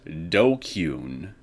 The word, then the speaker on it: DQN: Pronounced Dokyun.